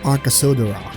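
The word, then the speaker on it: Arkasodara: by a considerable margin arka sodora so that's how you pronounce it arkhaseodora that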